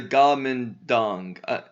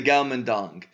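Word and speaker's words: Guomindang: Party or the the comb and tong okay and Chinese is pronounced the Godman dong the Galman dong I I don't really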